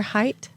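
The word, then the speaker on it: Haidt: loud once uh Jonathan does anybody know for sure height H AI DT it sounds right you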